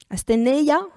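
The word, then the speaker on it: asthenia: verset c'est le mot asénia alors je je reconnais que oui si vous regardez la définition de asénia aséna je prononce mieux euh c'est vrai que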